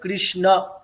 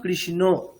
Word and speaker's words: কৃষ্ণ: আসলে আছে অ, হরে কৃষ্ণ, অ আছে, কিন্তু আমরা করছি কি হরে কৃষ্ণ। তো সংস্কৃতে উচ্চারণের বিষয়ে একেবারে খুব স্ট্রিক্ট, এখানে যেমনটা আছে তেমনটাই উচ্চারণ করতে হবে। অ আছে মানে অ উচ্চারণই করতে হবে, ও বললে হবে না। তো তাই জন্য আমাদের কি করতে হবে, এখন থেকে আমাদের কি করতে হবে, কৃষ্ণ এটা বলা শিখতে হবে। এতদিন আমরা কি বলতাম, কৃষ্ণ।